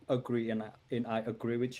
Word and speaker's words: Agri: introduction my name is angry uh you pronounce it like agree and and i agree